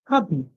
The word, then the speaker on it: hobby: song so we he Hub Hub and the Y at the end makes it song just like in company he the Y the